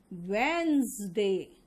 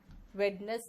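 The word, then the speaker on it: Wednesday: Poison, cousin, wizard, and इसका pronunciation होगा वेंसडे। Veins, वेडनेस नहीं, वेंस।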